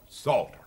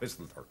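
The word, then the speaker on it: Psalter: P-S-A-L-T-E-R, Salter, not Pistleter. The P is silent.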